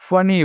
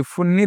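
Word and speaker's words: funny: यहाँ पे एफ U double N वाई, क्या पढ़ना है इसे, फनी, फुन्नी दोस्तों नहीं पढ़ना है, क्या पढ़ना है, फनी पढ़ना लिखना है।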